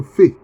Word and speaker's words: Phe: la 17e lettre que la lettre fait mais ça s'écrit Phe donc comme P ça donc c'est la 17e